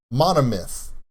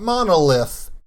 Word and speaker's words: Monomyth: it out with me this song is called monomyth not monolith mana mint mono one myth get it okay it's